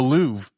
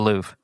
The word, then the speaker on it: Louvre: The Louv. It is spelled like Lou. But Lou I think is the right way to say it as an American.